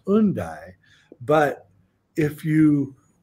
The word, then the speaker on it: Hendaye: town that it's in which i we call hende is actually pronounced undy but if you pronounce it in british english